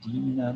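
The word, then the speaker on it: dīna: Vanchile e dina dase, hearing only briefly, you then abandoned this poor servant of yours. Dina with a long I means something like wretched.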